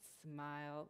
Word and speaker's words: SMIL: smile you can remember it's pronounced smile like the face will smile it's used as animate